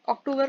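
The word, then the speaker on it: octobre: अक्टूबर को हम फ्रेंच में बोलते हैं अक्टूबर।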